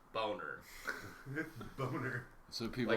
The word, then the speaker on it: Bonaire: It's a Netherlands territorialized island, and I asked if it's pronounced Bonaire, like that, on how it's spelled, or Boner, and he tells me it's Boner.